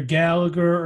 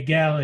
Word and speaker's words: Gallagher: that gallery well yeah I think we say either Gallagher or Gallaher but he would say gala he yeah that's that's